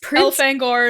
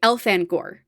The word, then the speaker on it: Elfangor: right at all Prince elfangor cenal shamol okay elfangor yeah okay well that's the way I've pronounced it el fangor el fangor okay people do different ones